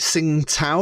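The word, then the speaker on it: Tsingtao: anyone ever had I I call it sing to like it's silent T at the beginning t s yeah it's a beer yeah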